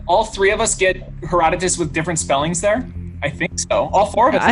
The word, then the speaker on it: Herodotus: all right answer from air correct answer is Herodotus I'm saying it correctly Father history baby I